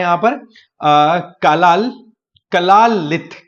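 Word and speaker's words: Kalaallit: है यहां पर कलाल कला लित कला लित बोलते हैं इनको ना स्पेलिंग यहां पर मैं लिख देता हूं प्रॉपर कला के A double L A double L आई टी कला लित यह कम्युनिटी आपको ग्रीनलैंड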